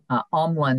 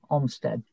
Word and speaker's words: Omlin: It's Omlin, not Olmstead.